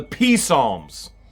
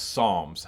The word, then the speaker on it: Psalms: All right, it's pronounced Psalms. I bet LIEnette didn't know that either. It is Psalms. And when you think of the Psalms, you're really thinking about what it sounds like. Songs, okay?